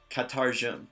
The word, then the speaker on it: katarjum: So, what's your name in Nuráma is pronounced katarjum. Repeat after me. Katarjum. Katarjum. Good. And try it a little bit faster as kind of one sound.